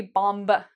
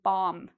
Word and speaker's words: bomb: If you have an M, you do not pronounce the B. So we don't say bomb. No, we say bomb. And we get rid of this.